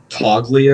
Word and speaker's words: Toglia: That was, and now we're looking at what's Toglia or whatever to Oh yeah, form. Michael Toll. I mean, the G is silent.